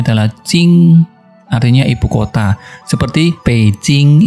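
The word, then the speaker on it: 京: Contohnya adalah ini, kalau kita kasih huruf seperti ini bacanya adalah Jing, artinya ibu kota.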